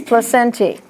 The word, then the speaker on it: placentae: The E is pronounced. It's placentae.